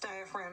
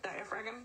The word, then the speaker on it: diaphragm: And then diaphragm, it's pronounced diaphragm, but if it helps you, you can mispronounce it to help spell it, diaphragm.